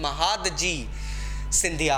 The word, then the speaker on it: महादजी सिंधिया: कुछ famous Maratha soldiers के अगर मैं नाम दूं तो महादजी सिंधिया, अब इस नेम का करेक्ट प्रोनाउंसिएशन महादजी सिंधिया है, एंड नाना फडनिस यहाँ पे दिया है, बट इट was actually Nana Fadnavis.